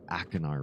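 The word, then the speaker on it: Achenar: And he said, I suspect it's either Cirrus or, he said Akinar, right? That was how to pronounce the other name.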